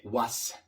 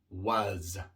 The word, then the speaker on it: was: No se dice was, sino was.